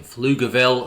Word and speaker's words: Pflugerville: in Bastrop County and a commercial space in Pflugerville. See, I pronounced it correctly.